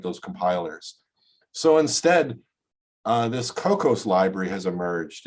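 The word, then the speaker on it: Kokkos: motivation to write those compilers so instead this cocos library has emerged it's spelled k-o-k-k-o-s it's simply a c-plus plus library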